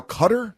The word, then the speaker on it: Qatar: with countries like uh qatar qatar yeah is now cutter yeah some people call it cutter some people call it qatar and you're like wouldn't